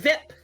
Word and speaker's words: VIP: what's VIP Ike asks he pronounces the acronym as a word rhyming with zip VI you say I goes VIP it stands Escape that's